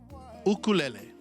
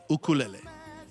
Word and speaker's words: ukulele: that we have is known as an ukulele ukulele that's the proper pronunciation for the instrument that literally means jumping